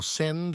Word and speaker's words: Sind: blue and comes from the sind or send as they here pronounce the name of the river after